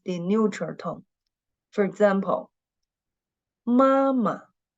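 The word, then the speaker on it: 妈妈: For example, mama. The second syllable of this word is the neutral tone, and we should read it very short and light.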